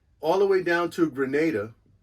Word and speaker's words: Grenada: the way down to Grenada that's how they pronounce it locally Grenada like hand grenade um and then we